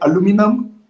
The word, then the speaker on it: aluminium: yeah but but i think americans usually say aluminum uh and then there's some yeah every people